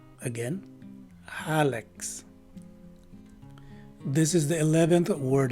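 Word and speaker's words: hallux: And the letter U is a swas sounding letter U. And lastly, the letter X at the end of the word takes the usual KS sound. So the right way to say this word is Halex.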